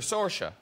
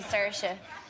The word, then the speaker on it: Saoirse: there a sorcia yeah I don't think I actually pronounce my name the correct way I I say certia but a lot of people in Ireland say no it's actually I think you're saying that wrong so I don't know